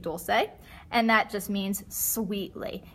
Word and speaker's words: dolce: here we have dolce and Italian we pronounce it dolce if you speak Spanish you might see the same word and think Dulce and that just means